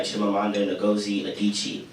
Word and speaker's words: Chimamanda Ngozi Adichie: And and I came across this one stereotype TED Talk by a woman named Chimamanda, her name's hard to pronounce, but it's Chimamanda Ngozi Adichie.